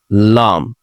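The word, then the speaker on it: lamb: না, ওয়াশার, অসার, লাম, ভেড়ার বাচ্চা। আসুন আমরা আরো কিছু সাইলেন্ট বি যুক্ত শব্দ দেখে দিতে পারি।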